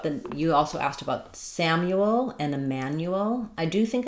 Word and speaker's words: Samuel: Um, we're going to have first syllable stress in Samuel, the a vowel like in sat. Um, and then you is going to um the the u is going to have the y sound and the ooh sound.